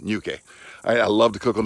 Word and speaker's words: Ñuke: It's pronounced nya, like the middle of onion or funyun, right? Or bunion, you know? Yeah, and no silent E, okay? Not a silent E, Ñuke.